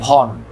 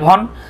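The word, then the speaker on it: Vaughan: যেমন আপনারা আপনারা ইংল্যান্ডের একজন ক্রিকেটার ছিল মাইকেল ভন, দেখেন ভনটা বানানটা কেমন ছিল, দেখেন ভি এ ইউ জি এইচ এ এন, মনে হবে মাইকেল ভগান, আসলে ভগান না, উচ্চারণ কি ভন।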